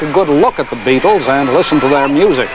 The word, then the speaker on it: Beatles: The Beatles sound like insect life, but it's spelled B-E-A-T, beat.